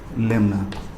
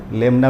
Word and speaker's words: lemma: Euclid's division लेमना, है ना. कोई इसको यूक्लिड्स डिवीजन लेमा भी बोलता है और कोई इसको यूक्लिड्स डिवीजन लेमना भी बोलता है ना.